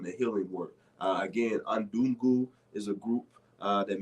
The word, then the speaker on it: Undugu: you want to know attend that uh you spell it the spelling is u n d u g u uh undugu all right which is Swahili for